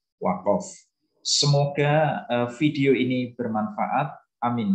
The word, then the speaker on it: waqaf: Ya, saya tulis lengkap pakai huruf A dan O, ya, karena huruf Qaf itu kalau di fathah itu tulisannya pakai huruf A, tetapi bacanya adalah waqaf.